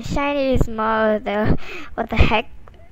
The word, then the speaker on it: SHINee: cover the basics obviously it's not pronounced as shin like how you recall mr charlie it's more like shiny which is pretty self-explanatory and if you don't get